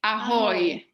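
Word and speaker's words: ahoj: We say ahoy. It's the same like a pirate.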